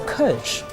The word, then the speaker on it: Kölsch: It's a Kölsch. And if you don't even know how to pronounce it, ask somebody to help you to pronounce this beer.